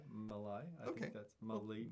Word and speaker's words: Malai: M-A-L-A-I, Malai. I think that's Malai. It's not Malia, because it was the I before the A.